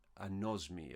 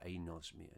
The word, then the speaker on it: anosmia: of smell is known as anosmi or anosmia depending on how you decide to pronounce that and we know um